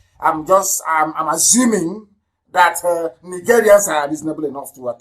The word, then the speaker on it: Nigerian: a nigerian in nigeria nigerian that's the proper pronunciation nigeria if you want to die